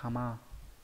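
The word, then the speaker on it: 鎌: Đây là bộ kim, kim loại, và chữ kiêm là chữ liêm, có nghĩa cái liềm, đọc là kama.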